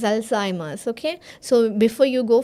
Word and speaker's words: Alzheimer's: paracetamol okay yes auu Alzheimer's disease Alzheimer's for when we are writing a name like alz disease it's not alimer this is Alzheimer's okay so before you